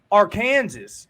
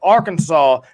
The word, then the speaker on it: Arkansas: Pena's from you boys home state he's from Arkansas is what some people like to call it Arkansas is how you pronounce it people but um so if anybody's